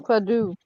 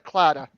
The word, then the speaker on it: Claddagh: what it is it's clatter and it's actually pronounced cladoo well when I talk to the Irish kids up in Boston they call it a Claddagh ER yeah I actually had to get these